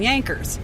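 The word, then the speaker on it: Jankers: so they called them Yankers which is spelled j-a-n-k-e-r-s and but pronounced J is pronounced as a y and so that's where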